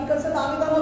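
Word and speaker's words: Dawid: अर्थ होतो येस and Hebrew name actually that is what वीस that is दाविद डी एडब्ल्यू आय आणि मग जे नाव आहे त्याचा आपण उच्चारण करतो दाविद 16 आणि 16 अध्यायामध्ये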